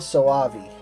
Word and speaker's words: Soavi: It's Mikhail Soavi.